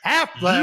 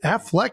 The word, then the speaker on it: Affleck: I mean, it's definitely ECK, but I feel like everybody pronounces it Ben Affleck.